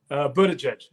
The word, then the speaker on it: Buttigieg: Me how neither, is it pronounced again? Buttigieg.